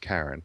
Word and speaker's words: Charon: moon actually Pluto is karen is half the size of Pluto and even though it's spelt CH AR 0 n still it should be pronounced Karen these are all creatures